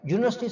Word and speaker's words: university: University starts with U but sounds like Y.